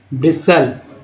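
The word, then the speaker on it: bristle: के बाद जब एल आए तो क्या पढ़ेंगे, ब्रिसल, टी को साइलेंट कर देंगे।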